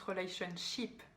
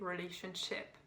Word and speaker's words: relationship: Ici, Macron le prononce relationship, alors qu'en fait, ship, c'est brebis. Donc, vaut mieux ne pas le prononcer comme ça. Il faut le prononcer relationship, le « et ».